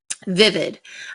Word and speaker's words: vivid: Vivid. A male peacock has vivid tail colors to attract a mate. Vivid. However, Rule 8 would make it sound like vivid.